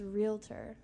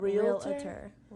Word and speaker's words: realtor: how they spelled it no there's no a really it's realtor it's not real a real a then why do some people spell it with it's just a it's just like a confusion with the brain people are like oh my realtor and it's actually realtor realtor no say it again